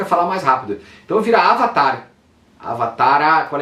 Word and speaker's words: avatara: índia da tradição védica a pronúncia é avatara com a no final e o h que